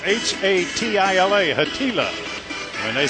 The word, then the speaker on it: Hatila: like spatula hat ask him how do you pronounce it it's h a t i l a hatila when they said Haula like spatula well